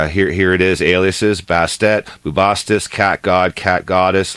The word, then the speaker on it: Bastet: bastet or baste bastet I do believe it's pronounced bastet now bastet is basically